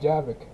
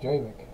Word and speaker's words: Javik: They pronounce it Javik, and I pronounce it Javik.